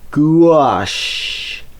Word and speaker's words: gouache: Gouache. How do you pronounce it? Well, start with a goo and add a wash. Try it. Gouache.